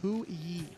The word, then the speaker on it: Hou Yi: How do you pronounce the god that Cyclone's playing? Oh, it's Hui.